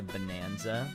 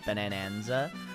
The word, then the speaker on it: Bananza: Is she donkey on my Kong till I bonanza? Bananza. Bananza is like you have to say it like Italian. Bonanza. Bananza. You know, you can't just say, "Yeah, Donkey Kong bonanza." You got to say bananza.